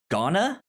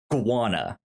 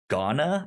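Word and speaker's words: Gauna: how you pronounce it i want to say iguana but that's not it because the u and the a are s switch so it should be ghana i think yeah i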